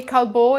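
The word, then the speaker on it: Callebaut: use instead of the wafers i will say kalbo is one of my favorite you can find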